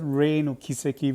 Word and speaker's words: 黎の軌跡: of took me off uh it should be pronounced as rain or kiseki because um I tried searching for Kuro and